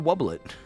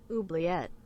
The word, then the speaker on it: Oubliette: he be in the Wobblet? I always call it Wobblet, because, like, in French, O-U-I is oui, so wub. But I understand that if it's, really French, it's probably pronounced like oublié, right?